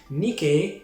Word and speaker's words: Nike: now located in france fun fact about that though nikkei is spelt nike if you think that's a coincidence you are completely wrong nikkei is the goddess of